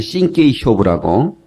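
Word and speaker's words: 真剣勝負: 이 말은 일본의 신케이 쇼부라고 이 진검승부를 그렇게 발음하는데 이 검도는 그 일본에서 오는 거죠.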